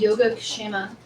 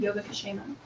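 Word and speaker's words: योगक्षेम: And that concept again from the Vedas is, it's called Yoga Kshema. It's all one word. It's spelled like yoga plus Kshema, Yoga Kshema.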